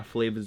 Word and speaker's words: FLVAS: The homie's brand name is Flavas. He is from VA, which is why Flavas is spelled F-L-V-A-S.